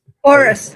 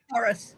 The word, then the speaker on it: Horus: Horus. Horus. Horus. Horus. Yeah. It's not a horse, but it's Horus.